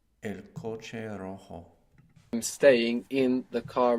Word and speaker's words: rojo: though is I stay the word for red in Spanish is Rojo this is spelled r-o-j-o and J is in Spanish are pronounced like this Rojo and we have the initial R so if you can do it it will be the rolling are Rojo so how would you